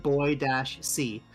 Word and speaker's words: Boise: Uh, they have shirts that say uh iHeart Boy-C. Um, it's supposed to emphasize the pronunciation, but it also does just kind of sound like whoever's wearing it likes watching boys.